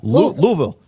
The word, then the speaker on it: Louisville: Louis I know how to pronounce it. It's Louisville.